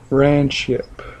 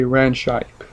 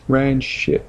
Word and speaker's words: ranshipe: hard to pronounce, but it is ranshipe. They say ranshipe. And now I'm not being mean to anybody, I'm just making it clear. It's not ranshipe, it's ranshipe. Just the E is silent. So just take out the E and just put ran, then ship.